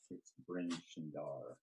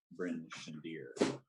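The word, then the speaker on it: Bryn Shander: could maybe travel to bernie or we could travel too and really it's pronounced bryn shandir uh what else looks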